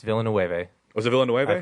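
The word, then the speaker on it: Villeneuve: So, it's Deni Villain Noe. Yes. Villainu.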